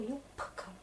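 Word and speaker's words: юбка: Regardez, une sonore se retrouve avec une sourde, et du coup yupka.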